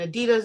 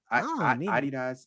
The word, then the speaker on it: Adidas: Adidas. Anybody from the UK, correct me if I'm saying it wrong, but I believe they call them Adidas instead of Adidas.